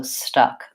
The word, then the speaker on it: stuck: open ah and then lastly stuck has the schwa vowel in this word it's a stress swab because it's a stress syllable so the symbol in